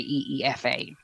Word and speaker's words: Aoife: But if I'm spelling it phonetically, I always just say EEFA.